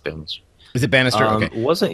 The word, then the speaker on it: Banastre: It's pronounced Bannister.